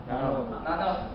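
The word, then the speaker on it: νάνος: Apa bacanya? Nanos. Ya. Ini bacanya nanos, bahasa Yunani. Jadi nanos itu nanos berasal dari bahasa Yunani, itu adalah suatu ukuran 10 pangkat min 9.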